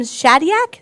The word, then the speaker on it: Shadyac: leaders and it's um a film by Tom Shadyac is that you pronounce his name yeah who is a famous